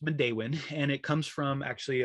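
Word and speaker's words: Midewin: system it's called modain national tallgrass prairie often mispronounced as meadwin or midwin which makes sense when you when you look at it phonetically but it's pronounced mondewin and it comes from actually a parawamy uh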